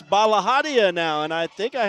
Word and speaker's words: Balahadia: And I have to admit, I let that play somewhat so I could hear how they pronounced Eliza's name, and I got to hear it. So I know it's Balahadia now, and I think I had it right or pretty close to right.